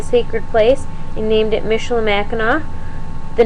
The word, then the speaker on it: Michilimackinac: 55 different spellings, but eventually Michilimackinac with a silent C at the end emerged as the favored form.